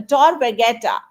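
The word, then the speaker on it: Tor Vergata: at the University of Rome for vetta a Tor vetta I hope I am pronouncing the name of your univers correctly absolutely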